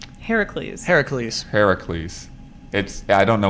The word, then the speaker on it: Heracles: Hercules would be, you get that C right away. H-E-R-C. Herc. Oh. This is Heracles, so H-E-R-A. Oh, Hera- Yeah. Oh, that's the difference.